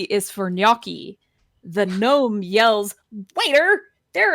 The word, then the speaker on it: gnocchi: these are really fun uh G is for gnocchi The Gnome yells waiter there is a bright